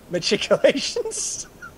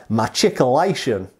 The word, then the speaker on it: machicolation: pronounced uh but uh this is how shad pronounces the word how do you say it matriculations so my version of uh shad's renditioner is machicolation my checklation uh that obviously is a bad australian accent thrown in there as well but